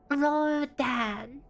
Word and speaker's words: Rogan: It's Roan. Ro the G is silent.